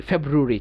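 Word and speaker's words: February: তাইলে আমরা এটাকে বলবো ফেব্রু, ফেব্রু। তারপরে র ইরি, ফেব্রুয়ারি, চাইলে আমরা বলতে পারি ফেব্রুয়ারি, আটাকে হালকা করে আরি, ফেব্রুয়ারি, ফেব্রুয়ারি, ফেব্রুয়ারি।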